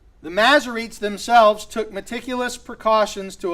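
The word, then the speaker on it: Masoretes: is the work of the macerates or the maserites themselves and the masary it's spelled m-a-s-s-o-r-e-t-e-s m-a-s-s-o-r-e-t-e-s the maserites themselves took meticulous precautions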